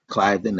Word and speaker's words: Cliveden: I've stayed in Philadelphia, uh Cliveden or Cliveden as it's pronounced by them.